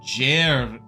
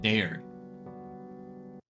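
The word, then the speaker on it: Dearg: Nope, I don't think I said it right. Pronounced Jerg in Scottish Gaelic and means red. Whiskey red. Alright, so it is not Derg.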